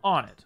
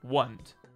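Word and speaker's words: Onett: Ness was a seemingly average kid from Onnit, or Wundt, It's debated how you pronounce that. And I hate the pronunciation Wund, but it's probably the canon pronunciation.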